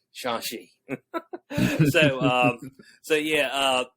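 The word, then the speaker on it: Shang-Chi: say it right okay it ain't shane chai even though that's what it says it's shanxi so um so yeah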